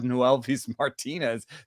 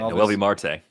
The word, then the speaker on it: Noelvi Marte: But gosh, would I rather have Noelvis Martinez than wait, did I say it wrong? Yeah, Noelvi Marte.